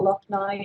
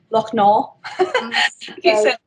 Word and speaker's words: Lochnaw: That's not how you pronounce it. It's not Lochnow. It's Lochnaw.